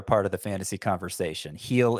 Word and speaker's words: Gil: Heel is spelled G-I-L.